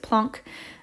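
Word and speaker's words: Planck: is um which is cool that's how you pronounce it plon um and he essentially came up with this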